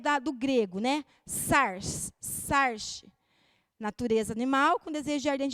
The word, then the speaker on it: sarx: E no grego, essa palavra é sarx, é S-A-R-X. Eu não sei se a pronúncia é bem essa, mas é sarx.